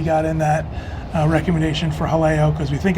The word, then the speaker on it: Jaleo: It's Jaleo, and I asked the manager of the restaurant, and it is pronounced Jaleo. Jaleo.